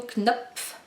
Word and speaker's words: Knopf: Donc voilà, j'ai lu Everyday de David Levisa édition Knopf K N O P F Knop bien dur à prononcer à Knop.